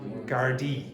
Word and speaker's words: Gardaí: Court has heard that Richard Satchwell told Gardaí that How do you pronounce that word? Gardaí.